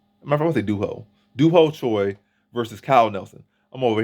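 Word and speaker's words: Doo Ho Choi: not a potato potato my name is do ho Choi it's not do who toy get it right in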